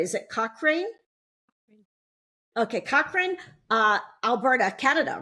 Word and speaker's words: Cochrane: in her hometown of, and I want to pronounce this right, is it Cochrane? Okay, Cochrane, Alberta, Canada, right?